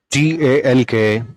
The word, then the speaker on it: talk: TALK, talk.